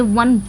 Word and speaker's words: one: हम कैसे इसको अगर हम इसको लिखेंगे प्रोनाउंस करेंगे वन है ना वन ऐसे ही तो प्रोनाउंस करते